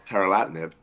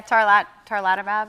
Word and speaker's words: tarlatamab: ASCO's not just abstracts of new data; it's a lot of education, and that's tarlatinib. Did I say that right, Danielle? How do you pronounce it? Yeah, tarlatamab, I think.